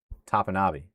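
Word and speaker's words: Topinabee: Well, it sounds like the locals need to get on that because, again, the official pronunciation is Tapanabi, according to the government website. I'm going to make sure. Tapanavi. Tapanabi. Tapanavi.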